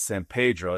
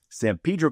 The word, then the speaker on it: San Pedro: That's a synonym, meaning that's the colloquial like pronunciation of a word that exists elsewhere and is pronounced differently. So synonym, not synonym, not like the shirt that I'm wearing. That's San Pedro, as in the hallucinogenic